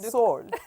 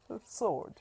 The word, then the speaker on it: sword: There is this EW must sound sword. Yeah. But my dear people, it is sword. Sword. Yes. You heard that? Not sword. Mhm.